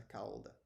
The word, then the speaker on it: calda: usado em sobremesas a calda assim em Portugal essa diferença de pronúncia Ela é bem acentuada eles se pronunciam mesmo o l como cauda então é